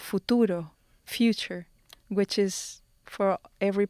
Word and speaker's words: futuro: Futuro. Futuro. Futuro. Like if you're kissing somebody, futuro.